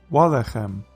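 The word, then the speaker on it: וָלֶחֶם: Lechem, bread, becomes walechem, and bread. Again, the stress is on the first syllable.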